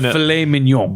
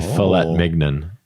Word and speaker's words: filet mignon: Well, I believe it said filet mignon. Definitely filet mignon.